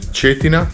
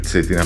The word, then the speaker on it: Cetina: dove nasce il fiume cetina zetina meglio zetina perché questa è la pronuncia corretta poi andremo a biach